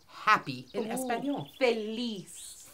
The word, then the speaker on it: feliz: Feliz. Feliz.